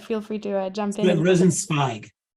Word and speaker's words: Rosenzweig: Rosenzweig. Okay, Rosenzweig. So the Israeli pronunciation.